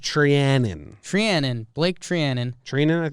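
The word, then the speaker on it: Treinen: I think it's pronounced Trianon.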